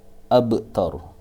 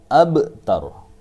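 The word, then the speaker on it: أبتر: Seperti contoh huwal abtar. Ba ini adalah huruf qalqalah. Ada mati lagi di sini lam. Tapi karena lam di sini bukan huruf qalqalah, maka tidak boleh membaca huwal abtar, tapi harus membaca huwal abtar.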